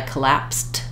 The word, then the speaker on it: collapsed: with a consonant um we might either say the T to be really clear I collapsed that all already or it gets a little bit swallowed like a stopped unreleased tea I collaps that I collapsed that last week the danger there is it sounds pretty much just like I'm saying collapse so you may if